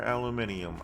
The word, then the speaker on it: aluminium: don't know I like do you pronounce it aluminum or aluminium I I like aluminium